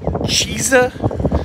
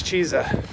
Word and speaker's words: Chizza: going to try this Cheesa let's get crazy here's the ad waiting for our CH I guess it's pronounced chisa we've got pictures hanging